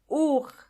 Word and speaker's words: Uhr: Uhr. Uhr means clock, and the H in this case is silent.